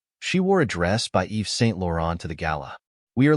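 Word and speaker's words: Yves Saint Laurent: t l a u r orent the correct pronunciation of this word is Eve St lauron Eve St lauron means a French luxury fashion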